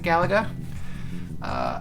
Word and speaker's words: Galaga: Sword, complete in box Galaga, depending on how you pronounce it. I pronounce it Galaga.